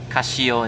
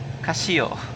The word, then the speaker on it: Casio: one but but but since Casio is Japanese I think I'm supposed to pronounce it Casio instead Casio so yeah I use